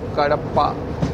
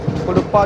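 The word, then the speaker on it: Kadapa: सो लगभग 1.25 घंटा डिले है और अब ये पहुंच रही है कड़प्पा। कुड़प्पा भी बोला जाता है, कुड़प्पा कड़प्पा।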